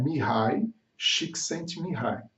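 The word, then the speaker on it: Csikszentmihalyi: sem semear mais um na forma correta de pronunciar me an eye x enterrar e ele te envolveu uma teoria super interessante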